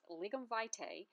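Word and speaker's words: lignum vitae: to show you how i colored in my ligam vitae tree let's pronounce that again it's pronounced ligament vitae otherwise known as the tree of life now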